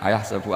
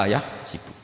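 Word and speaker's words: أيحسب: Tapi guru-guru kita kalau ngajar fikih itu bacanya yahsibu. Tapi kalau baca Quran yahsabu. Ya kan Quran kita kan ayahsabu Allah yaqdiru alaihi ahad, bukan dibaca ayahsibu.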